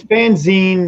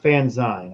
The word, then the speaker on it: fanzine: And it's fanzine, not fanzine. I'm going to say that for the last time, too. Someone says they're fanzines. Like, no, it's magazine, fanzine. That's how it's pronounced.